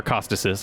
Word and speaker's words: Echostasis: you could just complete echo or acasis I'm sorry pronounce it the the Greek way only then will you be happy objective complete acostas only then will you